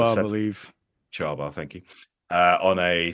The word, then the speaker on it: Csaba: Toldy 1 or the CSABA 39M on a Chauba, I seven. believe. Charbar, thank you. On a 7 plus armor car. I'm not going to try and pronounce it after my horrific attempts in the